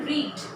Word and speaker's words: read: अब spelling रीड का भी वही है, रेड का भी वही है और रेड का भी वही है। ये RED रेड नहीं है, RED रेड कलर हुआ, लेकिन इसका प्रोनाउंसिएशन जो होता है वो होता है रेड।